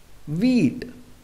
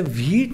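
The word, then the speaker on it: wheat: पढ़ेंगे बाई वीट गेहूं अब हम इसे हिट नहीं पढ़ेंगे इसे क्या पढ़ेंगे वेट क्योंकि डब्लू ह में वर्ड स्टार्ट हो रहा है और डब्लू के बाद हर तो हमारा ह साइलेंट रहता है हु से शुरू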